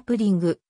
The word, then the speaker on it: プリン: 時代初期であるプディングの発音は日本人の耳にはポッティングやぷじんぐと様々に聞こえたがやがてプリンという発音カナ表記が定着したただ日本